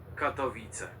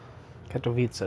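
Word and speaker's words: Katowice: The largest rally gathered a crowds reportedly numbering 100,000 people brought to Kat Vissa from the entire upper Clesia. Kato vita. Katvita. Kato vita. That's how you say it.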